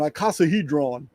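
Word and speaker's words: icosahedron: An iicasahedron.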